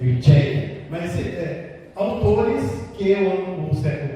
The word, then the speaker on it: Mircea: Eu também já falei isso, porque o professor universitário me corrigiu, o termo pronuncia correto é Mircea.